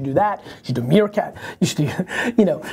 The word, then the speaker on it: Meerkat: it out all right is it pronounced mircat mircat yeah it's like the animal like Timone from tone